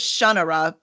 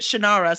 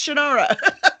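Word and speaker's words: Shannara: who's like you know I thought it was shunara but everyone pronounced it shinara so guess what it's shinara right yes yeah I think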